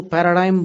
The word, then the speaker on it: paradigm: हेगड़े, तो उसमें वो पैराडिग्म बोलते थे। और फॉरेनर्स जो उसका उच्चारण करते हैं, PARADIGM उसका स्पेलिंग है, वो पैराडाइम बोलते हैं।